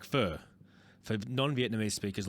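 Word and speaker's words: phở: It's called pho, but pronounced like pho, for non-Vietnamese speakers like me.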